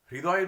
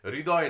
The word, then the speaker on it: হৃদয়: হৃদয়ের উচ্চারণটা অনেকে হয়েরিটা অনেকে রয়ের মতন উচ্চারণ করে ফেলে, ওটা খেয়াল রাখতে হবে। হৃদয় নয় হৃদয়, হৃদয় নয় হৃদয়।